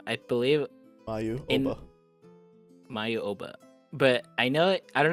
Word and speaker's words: Oba: they called her like, I don't know if they called her Obai or Oba. I think I forget. In the dub, it was Oba. Was it Oba? Yeah. Okay. That's how it's spelled too. OBA.